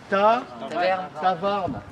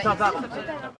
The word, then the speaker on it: tafarn: Tavarn. Et vel e brezonek. Vel me skrivet en un doa real. La réflexion Cinéma. et ta farde. Non, Tavarn.